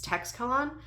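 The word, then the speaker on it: Teixcalaan: So when that planet, Texcalan, needs, I did listen to the audio for a sample so I could see how to pronounce it. It's Texcalan.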